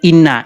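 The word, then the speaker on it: إن: Nah, jadi itu bacanya inna.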